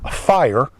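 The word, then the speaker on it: Fier: So, uh, uh, that, uh, spar was in the town of fire, I think is how it's pronounced. F I E R.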